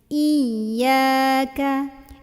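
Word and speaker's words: إياك: wa iya gitu Nah harusnya ynya lebih tekan dibentak naikin intonasinya ya jangan iya tasdidnya enggak ke bawa iya iya naikin dikit ya intonasinya iyaka iyaka iyaka gitu ya kemudian na'budu biasanya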